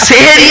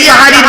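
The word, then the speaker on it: সাহরি: আর সিনে জবর দিলে সাহারুন মানে হলো রাতের শেষ অংশের খাবারকে আরবিতে সাহারি বলে, সেহরি নয়।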